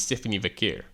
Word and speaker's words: Stephanie Vaquer: It's Stephanie Vaquer.